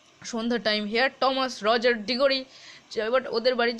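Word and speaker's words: Thomas: এটা থমাস উচ্চারণ নয়, টমাস হবে, কিন্তু এইচের উচ্চারণটা হয় না এখানে।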